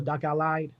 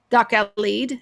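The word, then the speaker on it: Dachau Lied: lyrics to the song, is that pronounced Doc Al-Lead or Doc Al-Lied? Doc Al-Lead, Doc Al Right.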